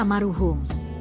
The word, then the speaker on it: Maroehoem: Pada waktu itu, huruf "OE" dibaca sebagai "U," sehingga kata tersebut dibaca sebagai " Maruhum."